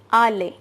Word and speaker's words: aller: means to go and its pronunciation is ali as i have written here in hindi verb it means the